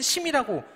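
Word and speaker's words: 沈: 심청 여기서 심이라고 읽는 한자은 이름으로 쓰일 때는 심이라고 읽지만 보통은 취미라고 읽습니다 가라앉을 치입니다 침수 침내 이럴 때 쓰이는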